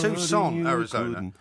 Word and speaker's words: Tucson: But it's Tucson. Yeah, that's what I said. That's what I kept saying. It's spelled T U C S O N.